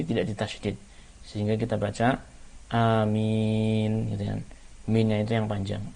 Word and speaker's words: Amin: dan mim nyanyi Tidak ditasydid sehingga kita baca Amin pilihan Mina itu yang panjang hanya itu dua